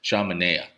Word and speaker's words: Sean Manaea: Sean Manaea.